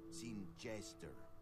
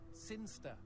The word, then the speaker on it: Sinchester: Sinchester. Sinster. What? It's pronounced Sinster. How do you know? My cousin's from Sinster.